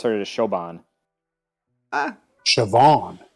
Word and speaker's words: Siobhan: um so so k hendo says the name's pronounced siobhan um it's irish yeah uh yeah so the